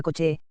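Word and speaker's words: Kocs: que tenía lugar allí se le dio el nombre de cox y que se pronunciaba coche y como en esa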